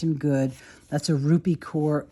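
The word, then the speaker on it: Kaur: good that's a rupy core core core I think is how you say it k r quote I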